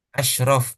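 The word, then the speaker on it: أشرف: Bukan Asraf penyanyi dangdut ya. Bukan. Asyrof paling mulia.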